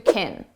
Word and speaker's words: can: not the main verb, we reduce this to kin. And it's very unstressed sound. I don't know if we can trust. And notice you hear trust more because it's the main verb, and can, which sounds like kin, is very short.